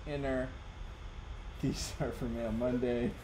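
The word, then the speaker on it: Iner: My name is Inner, pronounced Inner. These are for Mail Monday. Thank you for your connection. My graffiti cards, some prints as well. Thanks. Inner. I-N-E-R. Pronounced I-N-N-E-R.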